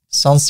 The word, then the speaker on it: sans: So if I say serif versus sans serif, I go to images. It's French, sans for without.